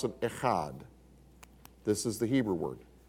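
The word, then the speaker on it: אחד: So you would pronounce it echad.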